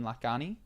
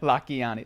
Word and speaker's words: Lakhiani: an interview yesterday with Mind Valley guy Vishen Lakhiani. Yeah, that's not how you pronounce it, but go ahead. Sorry. Lakhiani.